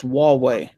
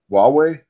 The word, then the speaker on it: Huawei: of who I will disclose my company it's pronounced Huawei Huawei okay long way and orange seizing documents and